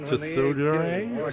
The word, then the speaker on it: tsundere: Boris Karloff is such a tsundere. Tsundere, thank you. The T is silent. Not really. It's like Subaraya. You have to put the T and then quickly go into the S like The T is silent, says me.